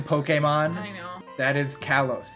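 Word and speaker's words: Pokémon: You mean the official pronunciation, Pokemon?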